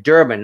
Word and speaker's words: Durban: Yeah, you're right, Durban, not Durgan. I said it wrong.